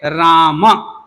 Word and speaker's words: राम: जैसे राम जब बोलते हैं तो मकार उत्तरवर्ती आकार को हम छोड़ रखा है, उसका नहीं उच्चारण किया, तो अशुद्ध नाम लिया ना। उच्चारण क्या होना चाहिए? राम, राम बोलना चाहिए ना।